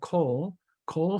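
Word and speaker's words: Kol Foods: Can you mention that again and maybe spell it? Oh, sure. It's 3 letters. It's KOL, Cole Foods out of Silver Spring, Maryland.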